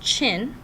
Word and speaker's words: Qin: the chin that this Qin n which is pronounced chin that dynasty was eventually Victorious and United China